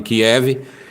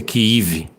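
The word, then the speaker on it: Kyiv: E que para kiv Kiev que os russos gostam de chamar de Kiev e os ucranianos parece que preferem a pronúncia kive então Estados Unidos aprovou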